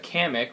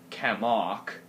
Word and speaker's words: Kamek: And then we have Kamek, which, oh, I guess how they pronounced it was Kamok.